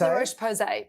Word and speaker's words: La Roche-Posay: La Roche-Posay, yes.